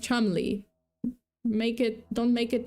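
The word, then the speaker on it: Cholmondeley: And apparently I I just found it out but um but yeah apparently chandeli is not chandeli it's chum it's pronounced chumi make it don't make it not make sense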